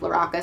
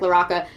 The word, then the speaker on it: LaRocca: I think it's LaRocca. It could be LaRocca. I knew somebody with that last name, and it was always pronounced LaRocca, so I'm going to go with that.